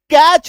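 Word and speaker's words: catch: क्या लिखा हुआ है, टी सी एच, तो कैच हो रहा है इसका उच्चारण, है ना, कैच हो रहा है इसका उच्चारण।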